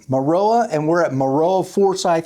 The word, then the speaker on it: Maroa: It's tough because we are in how do you pronounce it? Maroa. Maroa. I was right. Maroa.